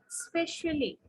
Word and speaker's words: especially: It's especially. Okay, so there is a long E sound for LLY, especially, especially.